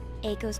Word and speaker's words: Eiko: I've been saying Aiko and it's supposed to be Eiko.